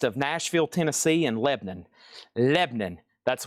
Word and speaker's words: Lebanon: Lebanon, that's one syllable. Most people call it Lebanon.